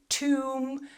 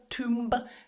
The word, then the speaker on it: tomb: Don't try and pronounce the B when you have that combination of M and B together. So for example, in the word bomb, climb, tomb, we don't say bomb, climb, tomb. The B is silent in all of these words.